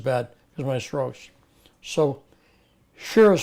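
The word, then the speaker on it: Shearer: So, Shira is spelled S H E A R E R.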